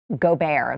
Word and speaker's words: Gobert: Jazz what's his name Rudy go go bear go bear that's how I I'm they're telling me that it's pronounced he is he really French yeah Rudy